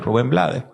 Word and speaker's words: Rubén Blades: Y en América Latina, pues, pronuncian el apellido en español, Rubén Blades.